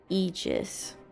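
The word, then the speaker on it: Aegis: say reuse uh iches this word is pronounced egis right egis or some such well just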